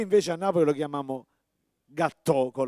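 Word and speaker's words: gattò: Noi invece a Napoli lo chiamiamo gâteau con l'accento sulla O, e della forma rotonda, manteniamo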